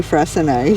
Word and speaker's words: Freycinet: We've worked out it's Frasen. So we've said in previous videos we weren't sure how that was pronounced and we were pronouncing it wrong. So um definitely Frasen.